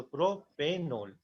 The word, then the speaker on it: propanol: Primary suffix में देखो, क्योंकि ई और ओ अगर तुम साथ में बोलोगे तो प्रोनाउंसिएशन अच्छे से नहीं आएगा। प्रोपेनियोल क्या होता है? उसका कुछ होता नहीं है, तो इसको ई को हम हटा देते हैं जानबूझ के, ताकि उसको प्रोनाउंस करने में अच्छे से लगे। तो प्रोपेनोल, प्रोपेनोल।